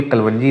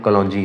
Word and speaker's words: कलौंजी: ये असल में तो वर्ड कलवंजी है दोस्तों, ये कलवंजी नहीं है, ये कलौंजी है। ये कलवंजी गलत प्रोनाउंस किया जाता है और इंग्लिश में